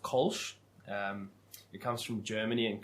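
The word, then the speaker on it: Kölsch: So, pronounced Kolsch.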